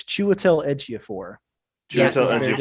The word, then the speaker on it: Chiwetel Ejiofor: I know I'm gonna say his name wrong. I would have to. Whatever, something Ejiofor. Chitel Ejiofor. I'm going to give it to you. It's Chiwetel Ejiofor.